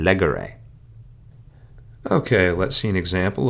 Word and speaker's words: legere: However, in third conjugation, we have no accent mark there, so instead the words are pronounced agere, curere, and legere.